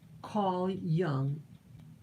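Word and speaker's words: Carl Jung: german guy but it's the j is pronounced like a y carl young is his name yeah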